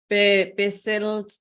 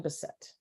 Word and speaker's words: Bessette: tune into this amazing talk together with Bessette. How do I say it? Last name, my friend. Bessette. Bessette.